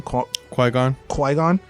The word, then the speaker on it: Qui-Gon: Qui-gon.